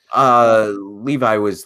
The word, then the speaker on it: Levi: Yeah, I mean, Zachary, is it Levy or Levi? I'm not sure how his last name is pronounced. Levi was the one that's what I've heard the most often. Levi. So Okay.